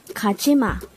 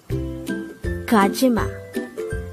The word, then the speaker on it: 가지마: word Number 103 kajima kajima this is pronounced as a three syllable word the first syllable is G the second syllable is G the third syllable is ma pronounce it with me kachima the word gajima is